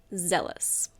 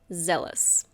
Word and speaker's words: zealous: The final word for this section is zealous. Zealous. Be careful of the pronunciation. It's not zealous. It's zealous. It means very enthusiastic and eager.